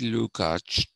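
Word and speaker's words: Lukács: you know like that luke so uh gyorgy lukach is considered to be the progenitor or the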